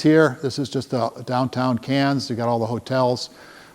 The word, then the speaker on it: Cairns: We are going up to, they pronounce it Cairns, by the way. Cairns, like the city in France, no R's.